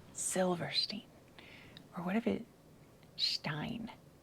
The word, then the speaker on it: Silverstein: Not Shelverstein, Silverstein.